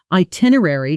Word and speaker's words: itinerary: Itinerary is a longer word that many learners either rush through or mispronounce by adding extra syllables. Listen slowly first. I tin or airy. Now at natural speed. Itinerary. Notice the middle syllables compress slightly. Air airy almost blends into two quick beats rather than three separate ones.